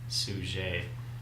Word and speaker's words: Suger: It's kind of spelled like Abbot Sugar, but he's French, so it's pronounced Suger, and he starts the